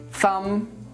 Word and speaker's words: thumb: are bomb comb crumb dumb lamb Lim Nam thumb if you're actually trying to pronounce the b in these words you're not